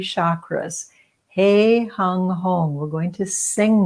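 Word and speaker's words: heng: The sound is hung, hung, spelled H-E-N-G, pronounced hung.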